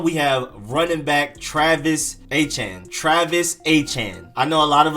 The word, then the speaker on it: Etienne: But the people back home where he's from, Louisiana, with the French infused accent and everything, it's Travis Etienne. I'm probably not doing it perfectly correct, but that's generally how you say it.